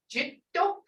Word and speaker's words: jito: But when you get to this jito, you got to pronounce both of these consonants because there's a double consonant there.